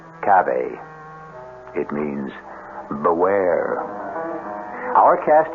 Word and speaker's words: cave: i equate cave with the latin word spelled the same way c-a-v-e but pronounced cabe it means beware our